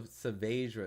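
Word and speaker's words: Saavedra: So Savadra is how you say his name.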